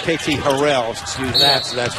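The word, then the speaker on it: Harrell: a full year of calling him KT Harold that his true pronunciation is harell even the Auburn people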